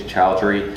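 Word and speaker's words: Choudhry: But he said, Kareem, I always pronounce his last name wrong. I think it's Chowdhury.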